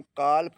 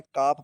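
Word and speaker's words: calf: एफ से पहले एल तो भी एल साइलेंट रहेगा। इसको हम काल्प नहीं पढ़ते हैं। काफ पढ़ते हैं।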